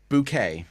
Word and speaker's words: Bouquet: is pronounced bouquet, like a flower Bouquet.